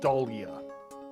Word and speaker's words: Dahlia: Okay, Wolfo was saying it's pronounced Dahlia.